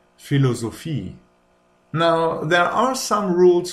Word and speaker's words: Philosophie: And then there's a ph, which is just pronounced like an f. Just like in photo or Philosophie.